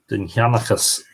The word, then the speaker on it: Dindshenchas: Dindshenchas, as it is pronounced in modern Irish.